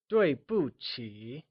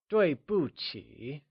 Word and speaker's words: 对不起: The whole phrase together translates as 对不起. Can you try and say that again? It's 对不起, where Q is said with a ch sound.